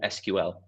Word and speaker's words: SQL: William, Events and Communications Lead here at CareerFoundry, and tonight is all about SQL or SQL. It's got two ways you can pronounce it, SQL, SQL. Both ways go, and we're joined once